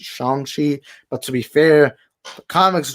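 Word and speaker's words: Shang-Chi: think it's shangchi because i believe simulu put out a tweet once saying that it is actually pronounced shanxi but to be fair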